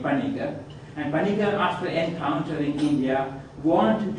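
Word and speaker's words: Paniker: name he used because he always used to write his name as you will see with a p-a-n-i-k-e-r particular that is the normal way a european would pronounce the name panika and encounter in india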